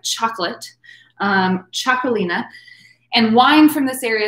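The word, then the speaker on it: Txakolina: you see right on the top t-x-a k-o-l-i-n-a chocolina is how it's pronounced like chocolate um chocolina and wine from this area is called chocolate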